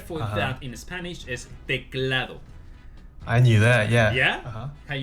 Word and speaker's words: teclado: So, this keyboard, the word for that in Spanish is teclado. I knew that. Yeah. Yeah. How you pronounce that?